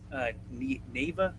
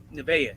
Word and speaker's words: Nevaeh: Neva? Fuck. Who? I don't think I'm pronouncing it right. Nevaeh. Yeah, that's it.